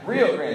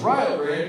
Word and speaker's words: Rio Grande: That's exactly how I thought they pronounced it as well, because that's how they spelled it. But they corrected me at the college and told me it's pronounced Rio Grande because, get this, Rio rhymes with Ohio.